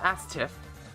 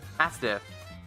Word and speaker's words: ASDF: Not Astif. Astif. With a D. Astif. ASDF movie. Astif movie. That's how they pronounce it inside of the movie itself.